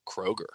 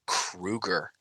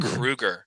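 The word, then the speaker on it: Kroeger: Also, his name is not pronounced Kroger. What is it? Dude, for years the media has pronounced his name Kroger. It's pronounced Kruger. Chad Kruger, like Freddy Krueger.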